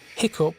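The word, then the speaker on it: hiccough: Hiccup has the sound of cup.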